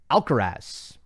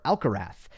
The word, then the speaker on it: Alcaraz: My question is, why do so many people mispronounce Alcaraz or Alcarath? He pronounces it Alcarath.